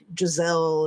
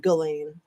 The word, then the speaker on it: Ghislaine: So, little E and and Gal Galain, is that I think that's how you say her name. It looks like Jazelle or something like that, but it's just Galain, you know, Maxwell.